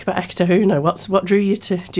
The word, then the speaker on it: Eketahuna: It just rolls off the tongue, Eketahuna. And is that the correct way to pronounce it?